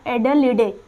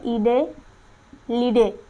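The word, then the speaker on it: Adelaide: अब दक्षिणी ऑस्ट्रेलिया की राजधानी क्या है, तो यहाँ है एडलेडे, एडलेडे। आपको इसमें प्रोनाउंसिएशन में थोड़ा दिक्कत हो रही है, ई से है ईडे लीडे, कुछ ऐसे करके है, हिंदी में एडलेडे लिखा रहता है।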